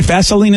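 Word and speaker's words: Vaselines: a vaseline song and they're pronouncing it right yeah vaseline is the right way all right there we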